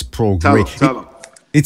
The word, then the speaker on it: Prograis: And if you could beat him convincingly, yeah, I'll give him a shot against Prograis. Yeah, okay. So Brandon White is telling me that it's pronounced Prograis, not Progrise.